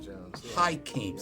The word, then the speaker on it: Hakim: Hakim Jones. Yeah. Hakim. Yep. Spell that for us.